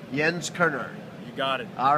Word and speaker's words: Jens Koerner: Jens Koerner.